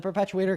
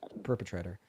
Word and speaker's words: perpetrator: because the perpetuator might find them there, but the perpetuator cannot go into a DV shelter. You're saying that no perpetrator could find somebody at a Perpetrator.